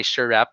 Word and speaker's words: SREHP: Or, ako pag-pronounce na kay Shurap, okay?